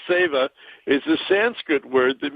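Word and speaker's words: seva: this weekend it's spelled se va but it's pronounced saver is the Sanskrit word that means service to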